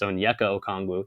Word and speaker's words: Onyeka Okongwu: I might be the only one that can pronounce the dude's name. It's been like a botch job all throughout YouTube. It's Onyeka Okongwu. That's his name.